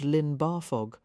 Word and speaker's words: Llyn Barfog: But the double L sounds more like Thel. Let a breath of air slip around the sides of your tongue."